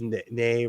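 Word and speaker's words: Nai: Whispers, it's nay, rhymes with hey.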